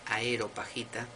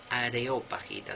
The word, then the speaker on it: Areopagita: de pseudo dionisio areopagita y no es a hero pajita que a mí me ha pasado mil veces de pronunciarlo así para pronunciar los rápidos que es areopagita del areópago no del aerópago areópago dos libros teología